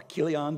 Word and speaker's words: Chilion: They had two young boys, Mahlon and Chilion, or Kilion, depending on how you want to pronounce it.